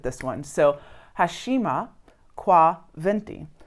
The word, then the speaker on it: binti: one, so HESHIMA KWA BINTI, which is actually spelled B-I-N-T-I, but they don't pronounce their B's that way.